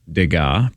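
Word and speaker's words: Degas: $1,000 which the seller adverti as a fake dega that's how you say it which if it's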